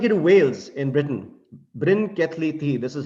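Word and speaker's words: Bryn Celli Ddu: me now take you to wales in britain brin kathleethi this is how this is pronounced this is supposed to be a burial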